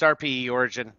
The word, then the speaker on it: RPE Origin: So I'm like, There actually is a space, but it's RPE Origin.